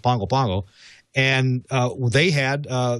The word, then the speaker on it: Pago Pago: is uh is pronounced pongo pongo it's spelled pago pago it's pronounced pongo pango and uh they had